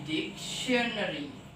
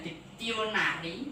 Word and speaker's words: dictionary: Jadi D karena ada C, jadi dictionary. Bukan hanya diktionari, tetapi dictionary.